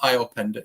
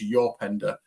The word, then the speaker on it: Openda: So it's not Iopenda, it's Yorpenda, and he's a diamond.